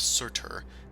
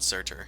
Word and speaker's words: Surtur: And Surtur. Insert, yeah. I'll put it in the notes. It's kind of spelled like Furtyr, which is the name of this guy, except with an S.